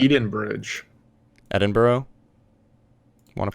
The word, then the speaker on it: Edinburgh: It's Edinburgh. Edinburgh. Want to pronounce it?